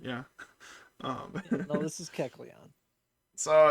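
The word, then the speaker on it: Kecleon: Keleon. Okay. Thank you for spar sparing me. I almost said Ke. Actually, guess I would have said Kleon. Yeah. Um, no, this is Keleon.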